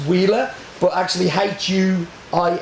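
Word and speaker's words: Huila: of all of the regions and it's called wheer pronounced pronounced wheeler but actually hu i l a um it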